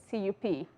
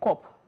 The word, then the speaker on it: cup: We have this word, CUP. The word is pronounced as cup, cup. But in Nigeria, we hear people saying cop.